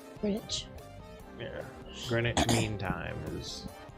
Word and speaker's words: Greenwich: Greenwich. Yeah. Greenwich Mean Time is 6 hours ahead. It's spelled weird. Green WCH. Sounds like that would be Greenwich.